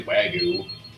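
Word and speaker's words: wagyu: Champagne Illinois right yes we always say wagu is the correct Japanese pronunciation wag gu wagu yeah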